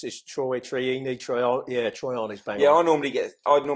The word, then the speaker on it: Troiani: Everyone gets your last name wrong. Everyone, yeah, it's Troiani, Troiani's bang.